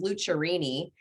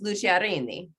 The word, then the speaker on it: Lucciarini: So the American version or the Kansas version is Lucciarini. But if you want to get authentic and you want to roll your R's and have fun, it's Lucciarini.